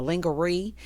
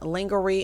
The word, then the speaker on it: lingerie: Got Fatima outside in a lingerie. And yes, for those people who think that I'm saying lingerie and I don't really know it's pronounced lingerie, that's me being funny, okay, about the word.